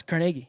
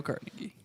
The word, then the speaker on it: Carnegie: It's Carnegie. No, it's Carnegie. Really? Yeah. Oh. You're thinking of Carnegie Hall.